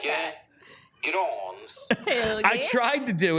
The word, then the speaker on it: Grans: it's the Elite Prospects pronunciation of Helge's name. Let's make sure the volume is up here. Helge Grans. I wanted Bill to say it exactly like that. Grans.